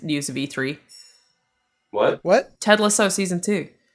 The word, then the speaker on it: Ted Lasso: it could be yeah she's pronouncing it wrong austin she said ted lasso thank you yeah ted